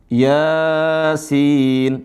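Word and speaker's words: يس: Huruf 1 Yasin. Nah, ini biasanya tulisannya ya. Afwan. Ditulisnya biasanya dalam Al-Qur'an ya. Gitu. Dalam Al-Qur'an dibacanya ya sin.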